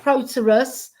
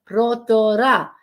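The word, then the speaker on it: Protaras: See, that's how you pronounce it, not Proterus, Brodara, Cyprus.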